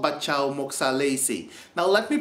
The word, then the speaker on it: Batjaw Moksie Alesie: so traditional to my country and it's called Bacha Mesi now let me pronounce that a little slower so you can hear the correct pronunciation Bacha Moy alysi now I'm going to give you a little